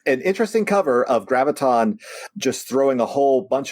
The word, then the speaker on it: Graviton: top Corner we get Spider-Man facing off against Gravitron Gra graviton graviton see always have a problem pronouncing his name he's it's Megatron right graviton